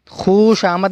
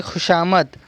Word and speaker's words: خوشامد: سارا وقار کھوتے ہیں۔ خوشامد نہیں پڑھ رہے بلکہ خوشامد۔ خودکشی کرنا حرام ہے۔